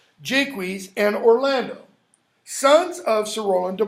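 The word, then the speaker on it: Jaques: are close friends okay then we have Oliver Jake wheeze and and that's how it's pronounced it's not shock Jake wheeze and Orlando sons of Saranda block so Roland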